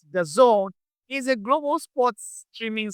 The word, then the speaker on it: DAZN: D A ZN simply pronounced the zone is a global sports